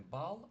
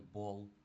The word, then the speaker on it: ball: Ее м'яч, наприклад, прочитаємо не бал, а прочитаємо як бол, тому що що али нам дає в англійській мові all.